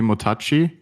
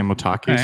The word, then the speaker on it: MOTACI: bait the other team give me your pronunciation i mean my guess would be motachi but i heard the panel say motaki so we're just gonna say motaki now first of all they